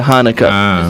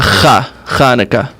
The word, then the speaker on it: Chanukah: the CH is the right way to spell it, but many people have trouble pronouncing that, so they just use the Hanukkah. Okay. Oh, okay. But in But Hebrew it would be... in Hebrew, it's a Chanukah.